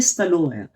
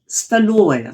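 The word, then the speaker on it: столовая: तो जो एक कमरा है बड़ा, जो रूस में सबसे मुख्य माना जाता है, उसको बोलते हैं स्टलोया, डाइनिंग हॉल टाइप का। फिर एक जी। बार उच्चारण करें। स्टलोया।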